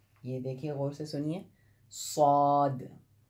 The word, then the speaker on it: صاد: دیکھیے غور سے سنیے، صاد، صا یہ ساؤنڈ نکلتا ہے، اور اس کے بعد